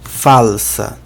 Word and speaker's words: falsa: Próxima palavra, falsa. A escrita praticamente a mesma que em português, só a pronúncia que é diferente porque o L não é pronunciado como U, né?